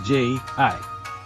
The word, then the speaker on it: 十: And again, it remains unchanged that announcers pronounce 10 as J-I.